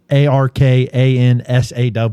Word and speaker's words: Arkansas: Is there a pronunciation for Arkansas in there? Yes, it is spelled that Arkansaw, Arkansas, Arkansas.